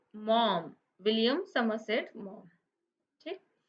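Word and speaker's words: Maugham: मॉम इस दी अथर यह spelling है वह लिखा हुआ maza-5 एंव गम इस तरीके से है लेकिन इसका वर्णन प्रनंसीएशन जो है वह ऐसे करते हैं मॉम विलियम समरसेट मोर चिक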